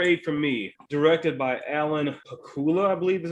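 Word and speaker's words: Alan Pakula: people um number eight from me directed by alan hakula i believe is how you say it based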